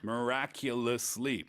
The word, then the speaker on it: miraculously: from the word miracle it's hard to say miraculously that's five full syllables right miraculously but it means by